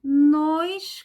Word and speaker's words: nos: Por exemplo, nós, que é O aberto, e nós, O fechado. Observem sempre o lábio, ó. Nós, nós nos conhecemos no Rio de Janeiro. E nós temos, então, a pronúncia do nós, aberto, e do nos, fechado.